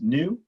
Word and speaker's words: nu: Okay, so here, C equals lambda times nu. This, I know it looks like a V, but it's really a nu, as in I wear new shoes, nu. But it's spelled N-U, okay?